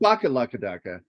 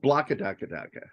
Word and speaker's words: Blakadakadaka: Say it correctly. It is in the Blakadakadaka Street. Not Bakalakadaka, but Blakadakadaka.